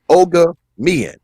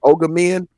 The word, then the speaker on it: Ogiamien: ask you this first it's ogre mian right is it ogre men am i pronouncing that okay yeah the heart the hard g is the most important part and then all right